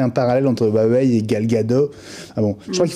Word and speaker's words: Gal Gadot: parallèle entre Huawei et Gal Gadot. Ah bon, je crois qu'il faut prononcer le T d'ailleurs. Elle prononce le T en israélien.